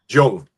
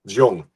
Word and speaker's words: Jung: Jung. Carl Jong.